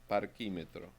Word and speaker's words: parquímetro: Parquímetro. That one is okay. Parquí. And parquímetro, an accent on the I.